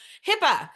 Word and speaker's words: HIPAA: All right, so HIPAA, just in case you were wondering, it is spelled with 2 A's, even though it pronounces like it has 2 P's.